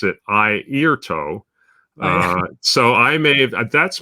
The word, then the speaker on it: Airto: Rob, who mentions that he saw, and he pronounces it Airto.